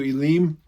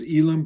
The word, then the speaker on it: Elim: They came to Elim. Some people pronounce it as Elim, but in Hebrew it would be Elim.